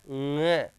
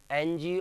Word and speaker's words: ङ: क, ख, ग, घ, ङ। आगे बात समझ में, ये पंचम वर्ण है, इसका उच्चारण होगा ङ, एनजी, और नाक से इसका उच्चारण होता है।